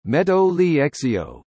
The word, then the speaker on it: Metro Ligero: The Metro Ligero, Spanish pronunciation, Meto Liexio, light metro, is a light rail system in Madrid, Spain.